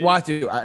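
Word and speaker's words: Uatu: Watu, not Atu. Sorry, I said it wrong.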